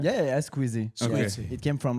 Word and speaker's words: Squeezie: Yeah, Squeezie.